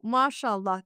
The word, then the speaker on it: Mashallah: But uh it's it's called SH on our uh Turkish.